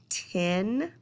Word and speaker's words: tin: Now, a lot of Southerners say tin, meaning the number 10, like this next word, but tin is actually metal and 10 is the number 10. So we want to make sure that we pronounce that correctly.